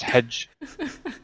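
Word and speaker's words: hej: Now, to an English person, you read that as Hedge. But obviously in Swedish, it means hello.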